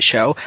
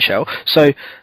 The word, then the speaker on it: Chell: There's a lot of people who look like Shell, or Chell, as apparently I've been told that I'm saying it wrong.